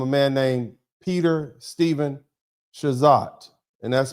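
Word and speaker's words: Chazotte: I'm not going to try to pronounce it like I'm French. I'm going to pronounce it like an American. Shazat.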